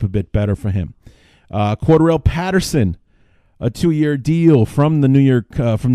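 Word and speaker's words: Cordarrelle: the candy store with quarter L Patterson or Cordero as his name has needs to be pronounced we need to figure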